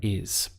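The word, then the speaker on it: hay: it's just one syllable its I now this sounds like the letter I in English but as you can see the spelling is very different so whenever you come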